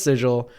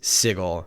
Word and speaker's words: Sigil: is spelled sigil in fact it should be pronounced sigil but no it's sigle hard but uh but if you if you